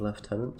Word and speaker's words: lieutenant: Pronunciation of Lieutenant surprises you? It's just the correct pronunciation. Many people do not know, at least English. Most people say lieutenant in English.